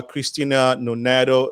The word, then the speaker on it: Christine Nonato: next to her is this beautiful lady uh christina noneto uh am i pronouncing the name correctly yes you did excellent